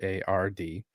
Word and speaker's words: Gerhard: MindsEye developer Build a Rocket Boy's co-CEO Mark Gerhard, however you pronounce that, it's Gerhard, revealed that he thinks